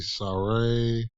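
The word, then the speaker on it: Sarray: Dakota Kai, maybe Saray.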